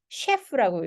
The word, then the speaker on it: chef: 요거는 chef라고 읽어요. 자, 이게 왜 이건 chi라고 읽고 왜 얘는 chef라고 읽냐면요.